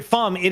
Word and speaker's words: Fi: chat they were arguing is it fee is it fi is it fo is it f it is officially rhyming with pi fi is our guy uh